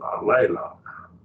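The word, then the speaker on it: ἀλλήλων: It's got 2, 3 syllables. Alelon. You break it right there.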